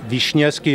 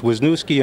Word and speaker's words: Wiśniewski: My name is Wiśniewski in Polish, Wisniewski in English, and I am known as.